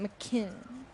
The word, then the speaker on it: McKinnon: MCK. That's how you say it. McKinnon.